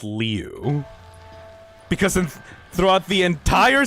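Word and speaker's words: Liu: just called Jeff brother Leu and no I did nobody corrected me why did nobody tell you nobody told me so CU it's l i u but I guess the I is silent I don't know it's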